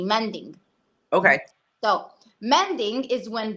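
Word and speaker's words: manding: the thing is this there's something called mending I hope my accent is not interfering with her the way I'm pronouncing it but I think it's right it's m a n d i n g mending okay so mending is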